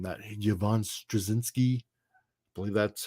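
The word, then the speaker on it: Strahovski: That Yvonne Straczynski. I believe that's how you pronounce her last name.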